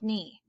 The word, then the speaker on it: knee: of words k n the k is the silent letter so this just makes an n sound no knit new knife knee okay etc you'll just